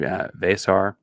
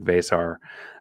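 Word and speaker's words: Veesaar: best bench big there in Arizona is Henry vasar was correct on that pronunciation this week vasar uh big seven-footer from a and I don't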